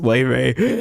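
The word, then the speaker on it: Laufey: I see L a U fy I'm like Ley But because of that, I've been saying the name of this game wrong every single time.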